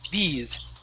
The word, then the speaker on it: these: Now here you started off, you said theys. Okay, so go right to that E. Attack that E sound. E, these. These.